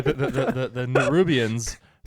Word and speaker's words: Nerubians: the arachnid creatures right n rubian n rubian yeah um still said it wrong nerubians there you go yeah nerubians nir rubian